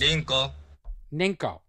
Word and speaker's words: Rinko: This was designed, Love Plus and Rinko, R-I-N-K-O, although in Japanese it is pronounced Ninko.